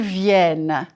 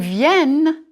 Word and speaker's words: viennent: Ils viennent. Il vient. Singulier. It's nasal. Ils viennent. Pluriel. Here you hear the n.